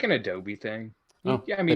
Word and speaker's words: Adobe: Fun fact, it's pronounced Adobe.